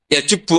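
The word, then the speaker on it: يجب: itu bacanya bukan yajibu tapi apa yajubbu a yaq lah kalau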